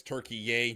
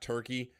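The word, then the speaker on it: Türkiye: team uh Turkey, that's how they want it pronounced. Mhm. And by them, I mean the country. So it's Turkey Yay now, not Turkey.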